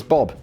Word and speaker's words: B.o.B: basically the immediate question who on earth is bob yes i've never heard of him and apparently his name is pronounced b.o.b okay could have led with that dany instead